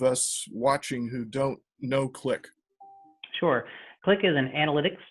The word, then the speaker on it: Qlik: chief data officer at click and that's not spelled the way you might think it is it's spelled with a queue joe welcome thanks chris